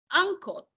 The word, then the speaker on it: uncle: Pero si me dice uncle, yo lo que escucho es una A.